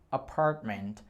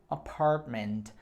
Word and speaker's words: apartment: Apartment. Repita comigo, apartment. Só um detalhe, porque a pronúncia não é apart, apartment. É apart, ok? Esse T quase você não vai pronunciar.